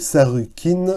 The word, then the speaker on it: Sargon: sumer et d'akkad d'ailleurs son nom sargon dont la prononciation en langue originale et et sarkin veut dire roi légitime